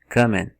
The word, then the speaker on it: comment: Mas na verdade, a pronúncia, a sugestão fonética da pronúncia é realmente kamen. Kamen, e eles não vão chegar no T. Kamen.